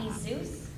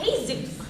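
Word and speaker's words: Jesús: it's Manolo and Jesus Manolo and Jesus no pronounce the J where is there a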